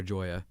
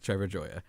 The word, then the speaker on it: Trevor Gioia: Trevor Jaya Jaya Jaya Trevor Joya I said his name wrong I've been saying anymore for a while